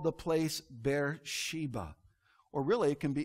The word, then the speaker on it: Beersheba: he called the place bear sheba or really it can be it can be pronounced beer sheva beersheba means the oath